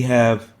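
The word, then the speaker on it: ه: And it is similar to the English H, pronounced as in rehab.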